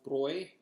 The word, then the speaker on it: Hofbräu: And I do pronounce this hoy, the over the a. The two dots over the a combined with a u makes the oi sound as does eu.